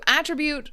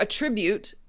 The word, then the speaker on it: attribute: So, attribute or attribute, the pronunciation changes depending on if it is a thing or if it is an action. So, here it's probably attribute.